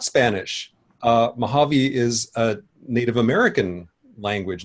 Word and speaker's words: Mojave: Mojave is a Native American language, Native American word. So according to the phonological rules of that language, it's actually Mojave. So I'm not going to take offense if somebody mispronounces it, as I'm sure many people will.